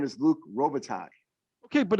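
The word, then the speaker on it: Robitaille: played with jesus oh chad say his name rubatelli rubitelli because he pronounced every letter exactly how it is how it's spelled the man's name is luke robitaj okay but it's not rosa that was it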